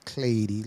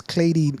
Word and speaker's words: Cleiri: Now, Cleiri is spelled Cleiri. I know That's it right. sounds Clady, like clay, but it's not.